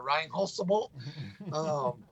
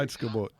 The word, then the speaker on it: Reinheitsgebot: There's no, how you pronounce it, Reinholzgebot. I'm not German, so I'll never pronounce that right. So don't hold it against me. Reinheitsgebot.